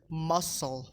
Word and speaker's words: muscle: C silent after S, muscle, scissors, fascinate, scene, scenario.